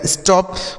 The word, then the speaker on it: stop: इस ओ का उच्चारण अ हो गया और P से प, इसे पढ़ा जाएगा स्टॉप।